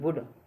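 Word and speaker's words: would: जैसे COULD कुड, यानी कि डी से पहले एल आ गई ना तो इसमें एल साइलेंट हो गई। BOULD वुड, वुड क्या, इसमें एल साइलेंट है, ठीक है।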